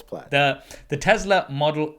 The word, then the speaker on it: Plaid: tesla model s uh plaid is how you say i i thought it was played because that's like no it's plaid the tesla model s